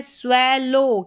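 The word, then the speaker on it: swallow: तो स्विंग यह है स्वेलो। क्या है? स्वेलो। ओ डब्ल्यू को ओ पढ़ा जा रहा है।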